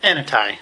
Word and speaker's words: ANAI: that's going to be you director rice yes anai in case you're wondering that's the pronunciation of that so good evening mayor and